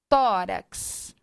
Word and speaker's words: tórax: então vamos lá no tórax tórax tão tó sílaba tônica terminou em x assento